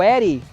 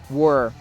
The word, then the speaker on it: were: E o eri, que é muito comum as pessoas pronunciarem, não tem essa escrita, mas não tem esse som. O som do verbo to be no passado é were.